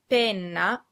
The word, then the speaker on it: penna: The words pena and penna are pronounced exactly the same, except that pena has one N, a short N sound, and penna has two N's, a long N sound.